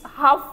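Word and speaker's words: half: इट्स हाफ first to. इसमें L silent होता है सर। ये जो एल है ना वो साइलेंट होगा।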